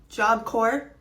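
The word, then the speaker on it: Job Corps: I posted yesterday because turns out job core the S and the P are silent I had no idea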